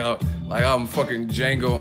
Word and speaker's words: Django: up my I'm fuckin Django Unchained the D is silent like I'm a fucking